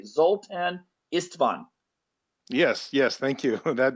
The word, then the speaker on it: Zoltan Istvan: is going to be uh I'm hoping I'm pronouncing this correctly zultan istvan yes yes thank you that that sounds great